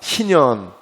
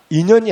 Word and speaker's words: 희년: 희년. 네. 인연이 아니고 희년. 네. 네. 잘못 발음하면 괜히 인연 소리 난다고요. 희년이에요.